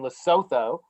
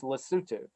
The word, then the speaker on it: Lesotho: It's based in Lesotho, but it's pronounced Lesotho.